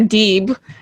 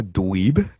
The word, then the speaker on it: Deeb: man well we gotta we gotta apologize to serena deeb for mispronouncing her name but uh yeah she's